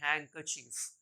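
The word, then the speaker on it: handkerchief: sound नहीं होता यहां पर भी डी का साउंड नहीं होता इसे हम पढ़ते हैं हैंकर चफ यानी कि रुमाल फिर देखिए बहुत ही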